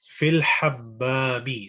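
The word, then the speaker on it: الحمّام: Just one point to emphasize, just the pronunciation. So fil hammami. So with the W there. You know, we still have that, the Urdu accent, and we are struggling to, convert it to Arabic. We forget that, hammam in Urdu is hammam also, easy.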